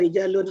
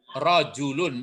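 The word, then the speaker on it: رَجُلٌ: Haza rijalun akilun. Rajulun, bukan rijal ya.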